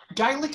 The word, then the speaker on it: Geilich: plaisir de recevoir Gelic. Comment il faut dire? Je ne sais pas comment il faut le prononcer. Gelic. Bonjour. Hey. How do you say your last name? Gaelic is fine.